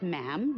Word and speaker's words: ma'am: is her majesty and after that it's just ma'am rhymes with Jim and it's always a curtsy especially